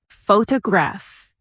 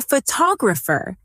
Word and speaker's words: photographer: Repeat after me. Photograph. Now, photographer. Notice how the stress changes when the word becomes longer.